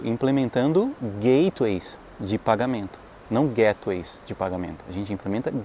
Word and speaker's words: gateway: Porque gateway, da mesma forma como backend, frontend, gateway é formado de duas palavras, gate e way. Gate é um portão, um portal. Way é caminho.